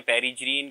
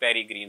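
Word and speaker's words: peregrine: failkan भी बोलते हैं कुछ लोग इसको प्रोनाउंस करते हैं पेरी ग्रीन कुछ वेरी ग्रीन दोबारा पेरी ग्रीन या शाहीन failkan इसका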